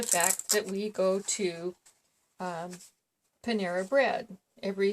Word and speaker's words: Panera: But anyway, he wants to always pronounce it Pandera bread. And it always gets to me, because every time he says that, I say, no, it's Panera bread.